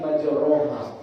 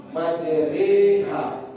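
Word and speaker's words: مجريها: Nanti mana tahu pas kita baca, kita sudah tidak baca Bismillahi majroha, tapi Bismillahi majreha. Doa masuk tambak. Nah, nanti kalau mau ke tambak bisa sudah bacanya Bismillahi majreha wa mursaha inna rabbi laghafurur rahim. Jadi jelas ya? Imalah itu antara fathah dan kasrah, atau bahasa mudahnya bunyi suara E.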